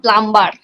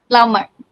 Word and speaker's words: plumber: it's a um next is very common and we most of the people make the mistake it's not a plum bar it's a plumber plumber okay so like this